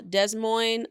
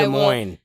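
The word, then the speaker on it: Des Moines: Desmond, Iowa. Davenport, Iowa. De Moines. Excuse me. De Mo. You don't pronounce us.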